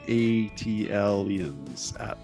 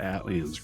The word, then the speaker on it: ATLiens: duos in rap history, OutKast, and their song ATLiens. ATLiens. I always called it ATLiens growing up. but I've heard different pronunciations.